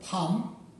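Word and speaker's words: 밤: আপনারা একটি শব্দ দেখতে পাচ্ছেন যার কোরিয়ান উচ্চারণ ফার্ম এবং বাংলা অর্থ রাত।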